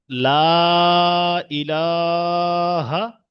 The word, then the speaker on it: লা ইলাহা: লা ইলাহা একদম কন্ঠনীর শুরু ভাগ থেকে।